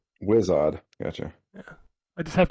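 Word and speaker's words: Wizodd: week wizard but it was odd how is this spelled w-i-z-o-d-d whiz odd whizz-odd gotcha yeah i just have to say i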